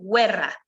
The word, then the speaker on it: guerra: como en español está por lo tanto la palabra 'guerra' se escribe igual que en español pero la pronunciación es diferente va a ser guerra igual que vida que